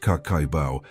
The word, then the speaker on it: Kakeibo: Kakeibo is pronounced Kakeibo, translates to household account book.